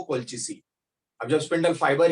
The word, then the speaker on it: colchicine: That is नॉट कैल्चिसिन, that is कोल्चिसिन.